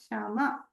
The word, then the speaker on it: Shama: Whereas we have to say Rama, Shama correctly. And in south, they'll say Raman, Shaman, Ramanaka, like that. But in Maharashtra, I've seen that is beautifully pronounced. It is neither too hraswa nor too dirgha.